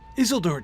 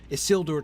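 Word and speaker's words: Isildur: in the audio book Rob Inglis says hazel Dora took it as if the stress is on the first word and I think that's wrong I think the stress is on the second word is SIL door took it I think is what he's saying right because it's not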